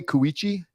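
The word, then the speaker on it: Cowiche: amazing place oh yeah how do you say kuichi kuichi it's just like a cow itchy cow your cow is itchy man perfect so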